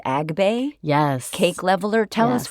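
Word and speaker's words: Agbay: We're going to bake the cakes, and then we are going to cool them and level them with is it pronounced Agbe?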